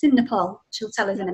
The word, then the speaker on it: Nepal: You say Nepal. Nepal, yes. Nepal, that's it. Yes. Nepal. Get the accent.